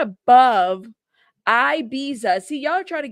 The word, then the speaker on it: Ibiza: Ibita? Is that how you pronounce Ibita? Ibiza? Okay.